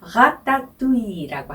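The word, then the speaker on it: Ratatouille: 불어 발음으로는 라따뚜이라고 하는데요.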